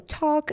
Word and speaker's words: talk: So talk, again, L is silent word, so talk.